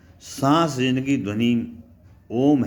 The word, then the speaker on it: ओम: जब हम बाहर सांस निकालते हैं तो ओ बोलते हैं, जब भीतर सांस लेते हैं तो म का उच्चारण होता है।